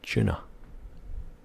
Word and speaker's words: tuna: Well, in Scotland, for some reason, whenever it's tuna, we say tuna. Tuna. Tuna. With a CH at the beginning. I spell it C-H-O-O-N-A.